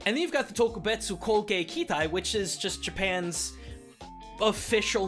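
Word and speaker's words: 特別攻撃隊: Like, two other very specific things that get dropped in this movie are Yokusai and Tokubetsu Koge Kitai. Apologies everyone, it's actually pronounced Gyokusai and Tokubetsu Kogekitai.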